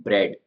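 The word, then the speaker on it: bread: पहले स्पेलिंग लेते हैं ब्रेड ब्रेड का मतलब होता है रोटी जिसके अंदर यह ए का साउंड है वो बिल्कुल साइलेंट है इसमें अब उस ए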